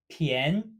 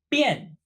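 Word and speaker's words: 便: we've learned previously as bin meaning convenient however it has two pronunciations the second being huh ye n PN and it means cheap or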